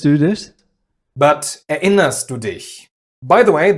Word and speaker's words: Erinnerst: A general rule is, if a syllable starts with a vowel, especially after a prefix, you use the glottal stop.